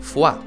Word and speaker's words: Foy: pero importante población de Foy, o mejor pronunciado, Foix.